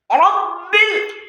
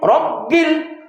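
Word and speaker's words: رب: আলহামদুলিল্লাহি আলহামদুলিল্লাহি রব্বিল। রব্বিল এখন বোঝা গেল বাটা উচ্চারণ হবে কোত্থেকে? দুই ঠোঁটের ভেজা অংশ থেকে।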